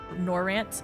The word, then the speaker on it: Norvrandt: Oh, the D is silent. The DB silent. Okay, so Oh, Norvrandt. Norvrandt?